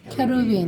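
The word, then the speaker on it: כרובים: 케루빔. 케루빔. 예, 요 발음이 딱 요게 맞는 발음입니다.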